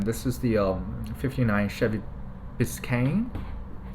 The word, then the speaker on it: Biscayne: is the 59 Chevy Biscayne I think that's how you pronounce it if I remember correctly I actually looked up